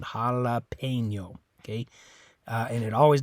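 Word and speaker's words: jalapeño: letter E in this word is actually sounds like the letter a in English is making an a sound jalapeno okay uh and it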